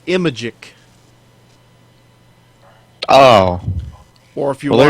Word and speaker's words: Imagic: Or if you're looking for another way to pronounce it, Imagic. Yeah, just take the word magic and put an I in front of it.